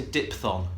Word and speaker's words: diphthong: People say diphthong. It's diphthong. PHTH in the middle of the word. Just so you know, there's a PHTH there. It's not DIPTH. It's DIPHTH. Diphthong. There we are.